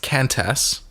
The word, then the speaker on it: Qantas: Yeah, which should be pronounced Qantas. There's no U in it, but anyway.